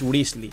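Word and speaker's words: Wriothesley: dicho su nombre y literalmente ha dicho que se pronuncia grizzly Así que va a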